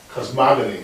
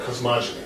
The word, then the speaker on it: cosmogony: This is given the shorthand notation called cosmogony or cosmogony, depending how you want to pronounce it.